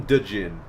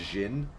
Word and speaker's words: Djinn: I always called them Djinn because I was stupid and I didn't know that they were just pronounced Jinn.